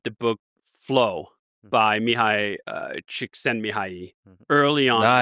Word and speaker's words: Csikszentmihalyi: And I was really lucky to read the book Flow by Mihaly Csikszentmihalyi early on Nice. The pronunciation is pretty I had to practice